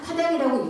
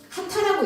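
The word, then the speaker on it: 波旦: 그 지역 대표의 성시가 파단인데 이게 우리 정격 한자원으로는 파당이라고 읽지만 이게 하타라고 읽어요. 이거를 일본말로.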